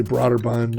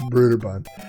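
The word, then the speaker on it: Brøderbund: broderbund some people say broader bund and then we found you know the official pronunciation was brutaband uh but what was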